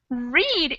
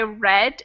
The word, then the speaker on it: read: words read and read read in the present is with it long e but read if we're saying I read a book it's spelled the same way but pronounced differently I know I wish